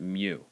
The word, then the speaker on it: mu: here this is the Greek letter me although some pronounce it mu this is a constant